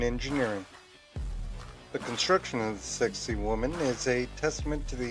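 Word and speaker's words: Sacsayhuamán: seven the sexy human sexy human pronounced sexy woman is an ancient Fortress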